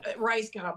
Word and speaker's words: Rajskub: get into this but um because nobody can pronounce it like me yeah exactly the rice Cub maryn rice Cub so the book is sort